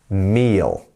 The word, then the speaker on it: meal: Meal. Meal. Remember, you have that E. You want to stretch your face out as much as you can. So you've got meal, meal.